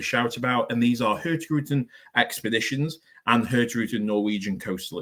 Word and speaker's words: Hurtigruten: Some people say Hurtigruten. I believe the correct pronunciation is Hurtigruten, but again, a lot of people in the UK and a lot of people around the globe know it as Hurtigruten.